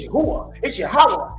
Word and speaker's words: Yahawah: No, you pronounce it like this. It's Yahawah. It's a higher day.